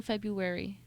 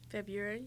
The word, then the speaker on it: February: a hard time saying February February February February right okay February February well you just don't pronounce the r huh oh February February